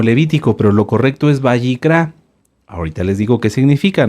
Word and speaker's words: Vayikrá: kilo r a bicra bicra lleva acento en la a en la última A bicra qué libro es